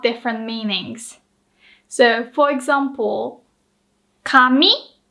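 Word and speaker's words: 紙: meanings so for example kami can either mean paper or hair so the pronunciation and the pitch accent are exactly the same but the kanji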